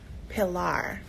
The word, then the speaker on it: Pilar: you just never know um how do I pronounce her name so it is Pilar so it's Pilar janae McKinley yeah and daddy